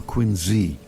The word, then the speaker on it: Quincy: of a marsh in Quincy, Massachusetts, or Quinzy as the locals say, just south of our hometown of Boston.